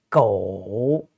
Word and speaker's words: 狗: And this one is G, and OU is pronounced O, and also third tone. So G, O, 狗, 狗, 狗.